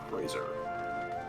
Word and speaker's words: Crozier: Minda, I just said how to pronounce it. Crozier.